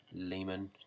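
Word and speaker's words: Léman: I've also got this Caran Leman, I think it's pronounced Leman, certainly not lemon, I'm sure.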